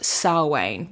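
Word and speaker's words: Samhain: anyone who wants to Google it but it's pronounced s way which like that's gaic for you so sne was a pagan Festival that marked the end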